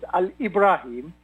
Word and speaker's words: Alebraheem: and my name and it is like what we are pronouncing it it is a Libra him and there a LED